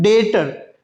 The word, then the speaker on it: debtor: What is the pronunciation? डेटर। डेटर। Okay, B is silent.